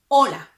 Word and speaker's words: hola: Hola. But look at this. We don't pronounce the H. The H is silent.